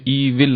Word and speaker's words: evil: उसके बाद है ईवल बातें। EVIL, इसको इंग्लिश में ईवल कहते हैं, पर मुरलियों में ईविल आता है। ईविल कुछ होता नहीं है शब्द, करेक्ट प्रोनाउंसिएशन है ईवल।